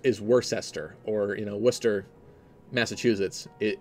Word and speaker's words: Worcestershire: in my first analysis I said lie Chester it's never the case for UK names whenever there's like like Worcestershire is worse Esther or you know Worcester